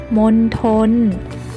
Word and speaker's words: มณฑล: 1 รอบ นะ คะ คำ ที่ มี ตัว ทองมณโฑ เนี่ย จะ ออก เสียง ได้ 2 แบบ นะ คะ คือ 1 ออก เสียง เหมือน มี เด็ก นะ คะ เช่น คำ ว่า บัณฑิต มณฑป บัณเฑาะว์ และ บัณฑุ ค่ะ ส่วน แบบ ที่ 2 ออก เสียง เหมือน ท. ทหาร ได้ แก่ คำ ว่า มณโฑ และ มณฑล มณฑา กุล ฑี ทัณฑสถาน และ จัณฑาล ค่ะ เจ้า ไป แล้ว นะ